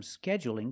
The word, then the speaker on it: scheduling: a dark L but when I say scheduling is it dark or light that's right it's light because the L is between vowels scheduling so you can